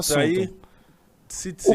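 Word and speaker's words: ציצית: Tzitzit. Tzitzit. Em hebraico você pronuncia Deixa tzitzit.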